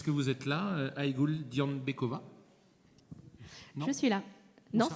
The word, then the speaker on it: Dianbekova: Dianbekova, c'est comme ça qu'on dit. Est-ce que vous êtes là, Aïgoul Dianbekova?